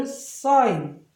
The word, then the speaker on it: sign: 그래서 얘를 sign 이렇게 되죠. 이렇게 되면은 여기 액센트가 여전히 있거든요. design 이런 식입니다.